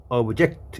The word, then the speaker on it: object: 그래서 명사로 물건, 대상, 목적어인데 동사로는 발음할 때 object 이렇게 하면, 그래서 명전 동우 개념이죠. 명사일 때 악센트 앞, 동사일 때 악센트.